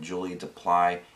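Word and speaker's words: Julie Delpy: And Ethan Hawke and Julie Duply, that's how you pronounce her name, seeing them, you know, see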